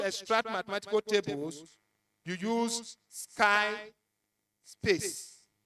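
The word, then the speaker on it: SciSpace: mathematical tables, you use Sky Space. Sky Space is spelled S-C-I-S-P-A-C-E. Sky Space.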